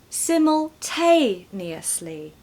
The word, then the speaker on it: simultaneously: to say isn't it put it all together simultaneously simultanously easy I was thinking the other day